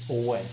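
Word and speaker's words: Ouai: really really like this I would normally spell way w a y but this is spelled o u a i away Drew can you just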